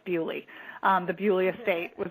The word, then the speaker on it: Beaulieu: i don't think any of them were at bully and that's actually the way it's pronounced i talked to a british guy who was like no you're pronouncing it wrong it's bewley um the beaulieu estate was where um some